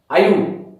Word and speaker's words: Ayub: Now total distance travel by, total distance travelled by हु, आयुब, आयुब बोलेंगे ना इसको, आयुब। Okay आयुब की स्पेलिंग AYUB, आयुब।